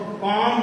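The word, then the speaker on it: comb: एक चीज और याद रखिएगा, बीच में फुटकर में बात याद आ गई, हम कॉम, अगर एम के बाद बी आवे तो बी का प्रोनाउंसिएशन कभी नहीं करना।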